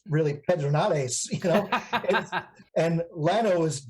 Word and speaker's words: Pedernales: Another one of my favorite is, we say Pedernales, but it's really Pedernales, you know, and Llano is Llano, you know.